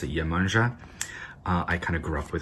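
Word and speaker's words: Iemanjá: lot of people pronounce yamaya in portuguese you pronounce it yamanja i kinda grew up with her energy a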